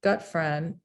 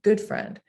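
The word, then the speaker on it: Gutfreund: i said you know well john gut friend and he right away he said john good friend and he corrected me in the pronunciation and went on to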